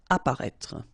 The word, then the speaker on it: apparaître: Okay, so exactly the same situation here with this circonflex. You don't pronounce it. Remember to write it, but you don't pronounce it. Apparaître.